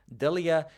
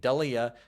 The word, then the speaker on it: Delija: Then we have Waldo Cortez Aosta taking on Ante Delija, and I think it is pronounced Delija, but I want to say Delija so damn bad by reading it.